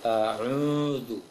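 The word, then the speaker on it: أَعُوذُ: Kemudian yang sering tertebalkan adalah a'udzu billah. Seharusnya monyong, bukan tebal, bukan dibulatkan, tapi a'udzu. A'udzu bi a'udzu.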